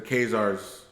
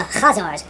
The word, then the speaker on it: Khazar: fierce barbarians called the Khazars or the Khuzari. Since most Americans can't pronounce the guttural Khazar, I'll pronounce that name the way it's spelled in English, Khazar.